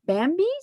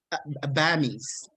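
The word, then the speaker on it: bammy: We ordered your, I think, correct me if I'm mispronouncing. Is it Bambi's? Uh-oh. Bammies.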